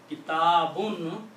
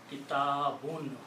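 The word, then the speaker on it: كِتَابٌ: Kitabun means a book. We know these words. I'm using the simple words that we already know. So the full correct word is kitabun.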